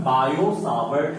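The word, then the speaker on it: Biot–Savart: तो इस चीज को बताने के लिए एक लॉ आया जिसका नाम है बायो सावर्ट लॉ, ठीक है, लिखते हैं बायोट सावर्ट, ठीक है। तो ये बायो सावर्ट लॉ, T silent है, बायो सावर्ट लॉ, ये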